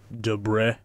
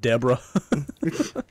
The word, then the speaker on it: debris: We were raking up all that debris. Debris, it's pronounced. all that. Go on a hike. We're raking up all that Debra.